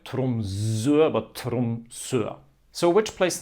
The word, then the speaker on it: Tromsø: The O with the line through it is a sound that you might also know from German or French. In German it's called O umlaut, Ö. In French you have the same, like in the letter EU.